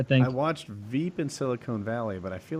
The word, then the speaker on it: silicon: there's e on one and on the other silicon and silicone s uh uh well yeah through my whole